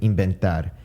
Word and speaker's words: inventar: same pronunciation same with inventar there's a v there but i pronounce it as you would basically pronounce the english b other examples are baca